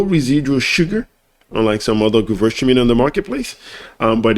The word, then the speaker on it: Gewürztraminer: Gewürztraminer. The W is always pronounced as a V.